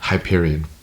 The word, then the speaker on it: Hyperion: And then I I looked it up and it's supposed to be said Hyperion.